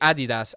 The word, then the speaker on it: Adidas: Yeah, it wouldn't be Adidas. It would be Adidas. Adidas because it's named after someone called Adidas.